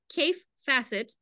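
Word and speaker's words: Kaffe Fassett: So somebody in the chat asks, are those Kaif Facet, that's how that pronounces his name, right?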